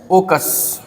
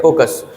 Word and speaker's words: oikos: की उत्पत्ति एक ग्रीक भाषा का शब्द है ओकस। ग्रीक भाषा के शब्द ओकस से बना है इकोलॉजी। ओकस कहाँ की भाषा है, ग्रीक भाषा है। ग्रीक भाषा का एक शब्द है, ठीक है, ओकस।